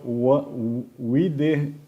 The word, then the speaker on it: Westerweele: Mathieu Westerweele. Sometimes there are some names that is difficult for me to pronounce. Okay, It's a really Dutch name indeed. Yes, yes. How Westerweele. Westerweele.